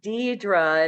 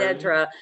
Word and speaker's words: Dedra: It's literally pronounced Dedra and not Dedra.